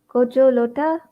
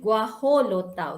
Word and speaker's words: guajolota: It's a gojo lota. Gajo lota. Okay, guajolota. Okay, that's how you should pronounce it.